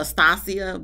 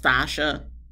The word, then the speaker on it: Stasha: For the longest, I was calling her Stasia, but I guess it's pronounced Stasha and Nate.